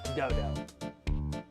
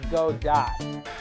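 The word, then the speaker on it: Godot: it clearly looks like God Dot and as far as I know in the English language we don't have a silent T at the end of the word I don't believe in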